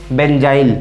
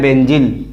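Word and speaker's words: benzyl: क्या कहते हैं बच्चों, बेंजाइल। तो दिस इज द बेंजाइल, ये आपका बेंजाइल है। हिंदी में बोलते हैं बेंजिल, हिंदी में प्रोनाउंसिएशन बेंजिल होता है और इंग्लिश में प्रोनाउंसिएशन बेंजाइल होता है।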